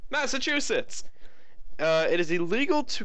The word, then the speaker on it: Massachusetts: place that my dad for the longest time pronounced as massetts Massachusetts uh it is illegal to give beer to